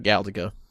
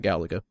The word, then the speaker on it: Galaga: It's upgraded version of Galiga. There you go. I'm sorry. It's upgraded version of Galaga.